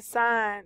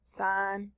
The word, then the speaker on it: sine: I know I usually hear students mispronounce it. They say, Miss Gray, what is the sine, the sin, what is the cos and tan? These are the buttons that we will be working with, sine, cosine, and tangent.